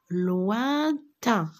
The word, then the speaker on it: lointain: pas, dans un pays lointain, regardez, loin, ici, O-I-N, je le prononce loin, A-I-N, 1. Attention, regardez, rappelez-vous. O-I-N, loin. A-I-N, 1. Lointain.